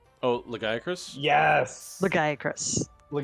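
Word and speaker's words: Lagiacrus: the armor sets that looks really cool ivory laggia cruise oh legiacris yes the guy chris the guy yeah well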